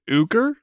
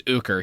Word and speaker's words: Ooker: very racist his name's ooger his name's ooker he's a racist piece of he deserves to die um his name is spelled o-o-k-e-r i'm not kidding uh sounds like oaky but serge has this